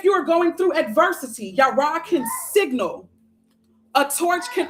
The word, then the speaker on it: Jera: We're going to look at Jera first because we're here, or it's pronounced Yara. Yara, harvest, celebration, endings, beginnings, reaping rewards, and life cycle.